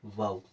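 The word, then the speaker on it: WOW: डब्ल्यू ओ डब्ल्यू, इसे पढ़ते हैं वाऊ।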